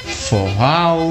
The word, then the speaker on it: forró: botando essa plaquinha escrito forró, que com o tempo algumas pessoas começaram a pronunciar forró, foral, até virar o famoso forró.